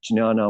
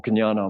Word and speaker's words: Jnana: This is called Jnana Mudra or Jnana Mudra. Sanskritists will accept either pronunciation. And so therefore, so will I. Jnana. Cognate with the KNO, knowledge, and the GN of gnosis.